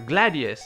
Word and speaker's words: Gradius: of a spinoff of gradius yeah we're Gladius is they kind of pronounce it in Japan so this game um